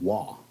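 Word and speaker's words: Waugh: uh it was directed by Rick Roman wall you said it right I did not walk because it is spelled w-a-u-g-h yeah WAFF uh we'll poop too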